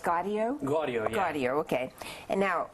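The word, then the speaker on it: Gaudio: you Daniel Rashard your character is Bobby it's pronounced gardo gardo gardo okay and now I saw him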